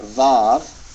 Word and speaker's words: Vav: people will prefer to call it VAV and pronounce it like a V Some people prefer to